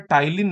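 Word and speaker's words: ptyalin: इसमें टाइलीन नामक एंजाइम होता है। इसको पटाइलिन लिखते हैं। पी टी वाई एल आई N spelling एक बार चेक करिएगा।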